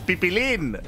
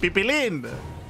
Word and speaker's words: Piplin: It's like Pippin. It's like, you know, Lord of the Rings.